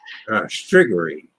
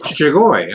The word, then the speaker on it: Strigoi: Striggery. Striggery. Well, there's not an R at the end. Oh, Strigoi.